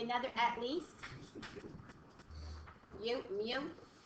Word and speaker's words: mu: Oops, I gave you another at least. Mu. It's pronounced mu. Oh, I thought you said yo. No, mu.